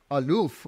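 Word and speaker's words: אלף: one and the name of the this letter Alf can also be pronounced as alof which means the master the Lord it is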